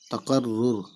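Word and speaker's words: تکرر: रे है तकर, तकर, फिर रे पे तजदीद, तो रे दोबारा पढ़ेंगे तो रे पे शुरू और फिर रे, रुर, तकर रुर, है ना।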